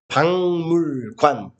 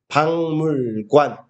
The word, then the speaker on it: 박물관: Thế nên phát âm là 박물관. 박물관.